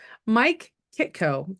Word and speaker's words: Mike Kitko: Jesus here we go Mike Kito correct am I saying it right you did all right perfect now he has